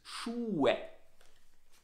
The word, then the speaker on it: Schuhe: Ja, die Aussprache, the pronunciation is Schuhe.